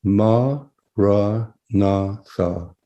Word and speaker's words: Maranatha: So if you choose this word, say it as 4 syllables: Ma, Ra, Na, Tha. Don't visualize the word, but sound it.